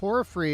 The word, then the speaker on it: Porphyry: towards Las Vegas and pora free is how the yard here is pronounced or free so we